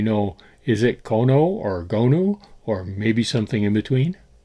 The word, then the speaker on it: 고누: Stuart Coolin, in his 1895 book on Korean board games, invariably used Kono with a hyphen. And this became the standard English American pronunciation of the word. But the word lost its hyphen at some point, but it's still with us as Kono. But apparently, Gonu is actually a closer pronunciation of Korean.